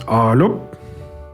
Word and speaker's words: Arlop: in the world, and it would be pronounced Arlop. Arlop. So it's sort of like saying hello in the West Country.